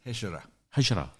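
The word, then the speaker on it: Hejira: How do you pronounce it? Hejara.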